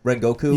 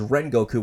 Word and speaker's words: Rengoku: you know, we pronounce him as Rengoku, whereas in Japanese it'd be more like Rengoku. I see. So it's kind of like that LR syllable.